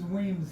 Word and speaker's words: Weams: This is Weams here. It's spelled Williams.